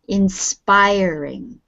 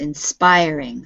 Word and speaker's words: inspiring: uh it's positive yes and say the word the stress is in the middle inspiring inspiring yes inspiring so the stress is on the middle syllable and it's positive did